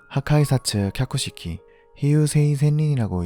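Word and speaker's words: 破壊殺・脚式飛遊星千輪: 일본어로는 하카이사츠 캬쿠시키 히유세이 센린이라고 읽습니다.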